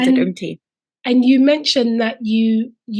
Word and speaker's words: Umthi: So it's pronounced Umthi. So like a yogi and with a short T. So the H is silent.